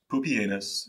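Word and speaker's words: Pupienus: would select two co-emperors pupianus and yes that's actually how you pronounce his name and balbus their election sparked civil unrest however as poopy anus was not well remembered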